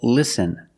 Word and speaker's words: listen: Example, listen and fasten. You see S-T-E-N. With this spelling pattern, you can see the T is silent.